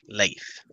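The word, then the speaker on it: Leif: leave and leave also his name is spelled l-e-i-f life do you say anything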